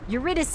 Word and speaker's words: Eurydice: It's, how do you pronounce her name? It's Eurydice.